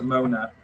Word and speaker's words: Monat: I'm feeling that, particularly Charles, Laszlo, and Mona Is it Monat or Monat? Is it silent T? Monat. How do you pronounce it? No, the T makes a T sound. Okay, so Monat.